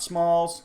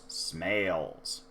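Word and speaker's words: Smails: Judge Smales. Not Smalls, not Snails, Smales.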